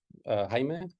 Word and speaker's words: Jaime: And Jaime is Jaime. You just pronounce it that way everywhere.